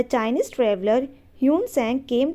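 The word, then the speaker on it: Xuanzang: Hyun Seng की बात करें तो ये हैं आपके Chinese Buddhist पिलिग्रम who came to India during the rain of king Harshvardhan. तो इनको वैसे इनकी प्रोनाउंसिएशन है युएन ट्वांग, ठीक है।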